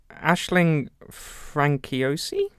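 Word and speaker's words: Aisling Franciosi: Frenchy aussi and he knows them yes it's pronounced that Ashley Aisling Frankie OC yes oh yeah she plays her and basically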